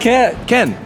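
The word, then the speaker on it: Caen: Ken and we're in Ken right now yeah it's pronounced Ken c-a-e-n it's pronounced Ken so just like Kendra oh look at this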